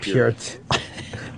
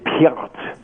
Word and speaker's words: Peart: Fine that what I'm saying- It isn' not peirt. No its Peurt. Its PEART.